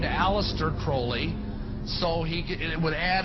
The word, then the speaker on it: Crowley: individual undeveloped Aleister Crowley he likes to have his name pronounced Crowley to rhyme with Foley and the statements today